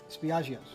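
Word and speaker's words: Spiaggia: Spiaggio's, correct?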